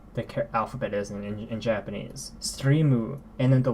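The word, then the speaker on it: ストリーム: So stream in Japanese is pronounced streamu, or something along those lines. Streamu. So stream. It's not It's not like just the M. It's mu. Streamu.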